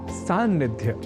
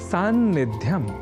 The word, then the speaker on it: सान्निध्य: हमारे सम्मुख आता है शब्द सानिध्य जिसे संस्कृत में कहते हैं सान्निध्य वैसे यहां ध्यान दीजिए कि हिंदी आदि भाषाओं के प्रयुक्त भी सन्निधि शब्द के लेखन और उच्चारण में किसी प्रकार की अशुद्धि नहीं करते पर सन्निधि शब्द से बने सानिध्य शब्द में हो जाती है कुछ प्रयोक्ता हों से चूक अब सन्निधि और सानिध्य